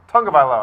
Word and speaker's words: Tagovailoa: Yeah, and so it's tongue, you know? It's like, it's that thing inside your mouth, not your teeth, Tom, it's your tongue. Tagovailoa, that's how you pronounce it.